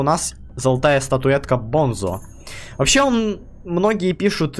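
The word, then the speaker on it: Bunzo: Да и по этому, по туториалу, который у нас был с игрой, вот там вот Банзо, ну Бонзо, сам диктор произносил его как Бонзо.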